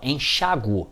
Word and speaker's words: enxáguo: Reparemos, ó, enxáguo, no Brasil, é uma paroxítona terminada em ditongo, é acentuada.